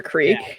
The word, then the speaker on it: creek: Just to call it a crick instead of a creek.